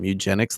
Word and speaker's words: Mewgenics: We talked about MEWgenics last week, JJ. Andy, you're going to have to pronounce that real carefully.